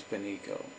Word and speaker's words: Benico: Her name is Benico. I believe it is spelled B-E-N-I-C-O, Benico.